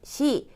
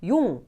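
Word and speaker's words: 四: 이치, 니, 산, 시, 고, 로쿠, 시치, 하치, 큐, 주. 자, 이렇게 얘기를 하는데 지금 여기 표를 보시면은 4, 7, 9는 지금 발음이 두 개씩이 되어 있죠. 4는 원래는 시라고 읽는데 용이라고도 읽고 7은 시치인데 나나라고도 읽어요.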